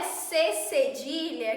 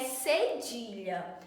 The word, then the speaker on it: cedilha: o cedilha não é c cedilha que muitos falsos cedilha a pronúncia correta desse desse sinal é cedilha ele é utilizado abaixo